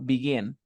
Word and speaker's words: begin: Begin, la fuerza de voz está al final, le duplico.